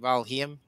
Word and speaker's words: Valheim: Valheim. I think you're doing Valheim. I think you just said Valium, but that's a different game.